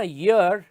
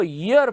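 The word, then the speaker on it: year: word है ना यर इसका प्रोनंसिएशन इसका उच्चारण य से शुरू होता है इसको यर पढ़ते हैं यर नहीं पढ़ते वाय ई ए आर का पहला साउंड ई का नहीं है य का है यह ऐसे नहीं है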